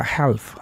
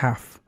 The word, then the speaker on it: half: Entonces, aquí la L es muda, no se dice have, sino have.